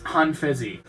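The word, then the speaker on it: Han Feizi: How you pronounce it? Pretty sure it's Han Fezi.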